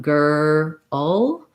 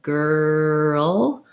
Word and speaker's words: girl: there's a break so if i'm saying something like girl it's not really two syllables it's not gur all but if i break it up that way girl and i focus on